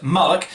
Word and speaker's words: mullock: Now if it had a B it would be bullock, but it is pronounced mullock, and I'm going to read this to get it right.